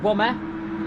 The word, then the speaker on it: Womer: Behind them we got Womer. Yes, I pronounced his name right. It's Womer. And off he goes into the wall, and that's a huge crash for Womer.